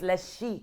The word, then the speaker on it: Lezchic: So all right, if we're gonna we gotta pronounce it correctly. You ready? It's Lezchic.